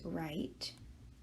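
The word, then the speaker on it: write: this verb and the original verb is right with a silent e at the end and when we add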